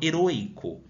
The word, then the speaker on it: heroica: aberto porque não heroicos eu falo heroica percebam que eu tenho um fechado heroica agora heróico não tem